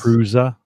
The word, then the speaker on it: Prusa: Prusa, that's how you pronounce it, right? Yes. Prusa.